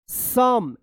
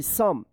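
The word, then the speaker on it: some: लेकिन यहां पे ओ का अ उच्चारण हो रहा है।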